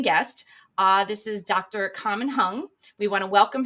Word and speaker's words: Kaman: uh my name is common hung and my name is spelled with the K but pronounced like a g in Chinese a little funny tidbit